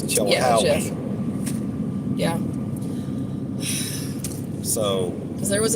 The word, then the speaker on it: Chilhowie: It's not Chihuahua. It's not a Chihuahua. It's not a Chihuahua. I believe, if you check the pronunciation on Google, it's Chilhowie.